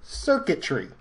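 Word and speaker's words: Xurkitree: Alright, this one is called Circuitry, spelled with an X.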